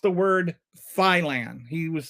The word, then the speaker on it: Thailand: that we call it Thailand. The British pronunciation is Thailand, and it's just total nonsense. I was like, dude, I've been to 34 countries, including England, and nobody has ever pronounced it Thailand before.